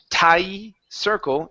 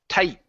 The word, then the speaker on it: tight: of the T sound you can't just say TI Circle it's tight tight Circle so your tongue has